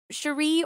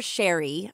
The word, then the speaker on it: Sharee: a woman known as Cherie Miller Sheree or Sherry I'm not quite sure we're gonna go with Cherie because it's s-h-a-r-e-e and I actually heard it pronounced two different ways and various things that